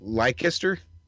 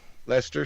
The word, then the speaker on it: Leicester: Physics students from the University of Leicester in the UK, help me if I'm pronouncing that wrong, captured some That'll be awesome... Leicester. Leicester, sure. What a great way to spell Lester.